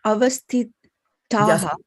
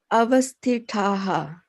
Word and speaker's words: avasthitāḥ: Avasthitāḥ. Yeah, you got, this is a tha for thali, and this is a ta for titli. It's a different consonant, right? Avasthitāḥ.